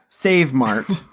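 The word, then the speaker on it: SavMart: yeah that's Sam mark no one is ever gonna pronounce that a like a long a sound for that yeah but I mean I get what they're going for but yeah Save Mart so he works at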